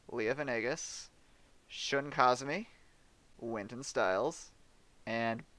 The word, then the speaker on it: Venegas: Leah Yes, Venegas. yes, that is how his name is pronounced. Leah Venegas, Shun Kazumi, Winton Styles, and Best Boy Lightning.